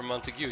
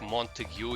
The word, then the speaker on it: Montague: I think Montague is how you pronounce it. I used to say Montag, but I'm pretty sure it's Montague, since it's an actual real life name that some people use.